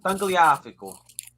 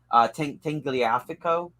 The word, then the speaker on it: Tagliafico: He plays for Ajax, but I think how you say it in English is Tangliafico. Gaia Valencia. Tagliafico.